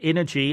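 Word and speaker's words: Innogy: and let's just remind our listeners the uh energy as it's as it's pronounced i n n o g y and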